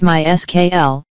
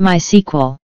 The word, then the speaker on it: MySQL: scalable and fast database software legally way to pronounce MySQL is my skl not my sequel however you can pronounce it whatever you like